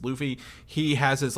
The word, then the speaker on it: Luffy: I've been pronouncing it Luffy. It's Luffy.